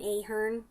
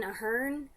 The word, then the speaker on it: Aherne: no first of all I thought it was Brian Ahern so to find out that I was pronouncing that long was kind of a shock but also when they said Brian Aherne I just automatically pictured